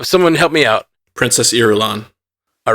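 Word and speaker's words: Irulan: these names uh someone help me out princess erulon all right thank you Jay Scotty and Austin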